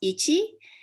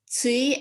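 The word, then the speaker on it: 一: But depending on context, it can be pronounced ichi, it could be pronounced tsui as in tsuitachi, which is day one, or it can be pronounced hajime if it's a person's name.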